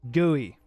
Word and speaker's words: GUI: it says gooey bam it says gooey gooey gooey that's how it's pronounced so don't even don't